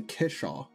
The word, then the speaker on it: kickshaw: The CK is almost entirely silent. It's a kishaw.